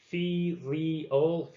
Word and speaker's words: filial: and then this is another one that i really struggled with filial it's kind of like fee leo filial um and it